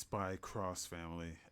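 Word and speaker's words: Spy × Family: I think it's Spy Cross Family. X in Japan means cross.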